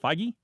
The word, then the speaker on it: Feige: interview with uh Kevin his last name is pronounced feige uh he's been talking about another Captain apparently